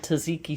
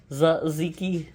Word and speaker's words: tzatziki: Then we are going to add a little bit of tzatziki sauce, or as Chloe says it's pronounced, tzatziki. Tzatziki. She's always correcting me.